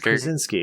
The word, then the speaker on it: Krasinski: It's Krasinski. It's very simple. It's like the easiest of that region of the world.